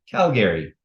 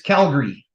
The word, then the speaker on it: Calgary: here when you say Calgary when you really emphasize that second a the way you pronounce it is Calgary you don't pronounce that